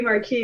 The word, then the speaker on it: Marquis: That's non-Marquess. Um, so it could be Marquis, it could be Marcus, it's Marquess.